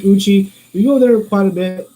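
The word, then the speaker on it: Eucha: the locals called lake it's spelled e-u-c-h-a how they got the a to become i is the indian thing i guess i'm not sure it's like uchi we go there quite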